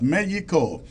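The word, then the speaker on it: México: Mexico I mean uh the Spanish really the Spanish pronounce it as Mexico and the English pronounce it Mexico welcome all of you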